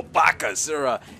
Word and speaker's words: Bakasura: great devour and that's you have to say his name you go Baka zura and let us see